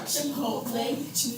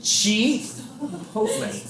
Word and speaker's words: Chipotle: Chipotle. Chipotle. The I is pronounced as an E because it's Spanish.